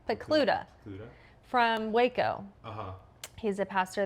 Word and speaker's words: Pokluda: Pokluda.